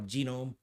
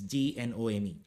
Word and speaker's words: GNOME: It's pronounced as GNOME or Genome. It's GNOME, right?